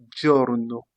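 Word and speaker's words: giorno: On se rappelle donc on avait dit que le G lorsqu'il est devant le I, on le prononce die. On a il primo journo le premier jour.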